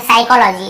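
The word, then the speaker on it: psychology: P starting में पी लिखा हुआ है लेकिन हम पी को पढ़ते नहीं है। साइकोलॉजी, इसे हम क्या पढ़ते हैं, साइकोलॉजी, ठीक है। साइकेट्रिस्ट, ठीक है, साइकेट्रिस्ट। और उसके बाद देखिए साइकोथेरेपी, क्या बोलते हैं, साइकोथेरेपी। यहाँ पे आपको पता चल गया पी साइलेंट है ना।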